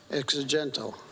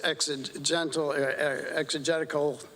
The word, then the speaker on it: exegetical: Exegetal. But I'll let him explain that later. As far as, and that was exegetical theology is the proper pronunciation, I believe.